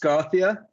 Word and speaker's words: Skarthia: of course is it scared so the it's pronounced Gothia um and it's just we came up with